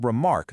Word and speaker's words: remark: And then with remark, the beat flips completely. We start weak and just land super hard on the second syllable.